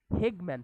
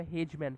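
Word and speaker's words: Hageman: আর এই ক্লটিং ফ্যাক্টরটার নামই হচ্ছে হেগম্যান ফ্যাক্টর অথবা হেজম্যান ফ্যাক্টর, যেটা যে যেভাবে উচ্চারণ করে, হেজম্যান ফ্যাক্টর অথবা হেগম্যান ফ্যাক্টর, বিজ্ঞানীর নাম অনুসারে এই ফ্যাক্টরটার নাম হেগম্যান ফ্যাক্টর।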